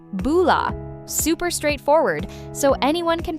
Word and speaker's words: bula: B U L A, right? That's it. Four simple letters. And you pronounce it like boula.